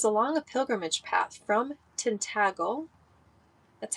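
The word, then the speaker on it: Tintagel: So, every church that I was led to, was along a pilgrimage path from Tintagle, that's how you pronounce it, Tintagle, where King Arthur's Castle is, where Merlin's cave is.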